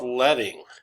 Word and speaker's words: leading: your font size and this is something called leting and um it's spelled like leading and I want to